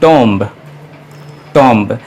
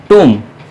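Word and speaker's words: tomb: है अजवाइन से बातें टी ओ एम B normally लोगों को प्रणाम करते हैं टॉम टॉम लेकिन यह गलत पेंशन सहित पेंशन है कि वो एमबी तुम तुम बस में नहीं आता है तो साइलेंट है है उसी तरह से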